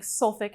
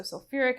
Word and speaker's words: sulfuric: Hydra just sulfuric acid this Ur is there again for pronunciation imagine saying sulfic acid that sounds so weird so sulfuric acid the next one also